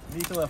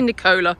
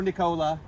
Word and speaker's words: Nicola: You can say Nicola. Or Nicola. Just not Nicola, right?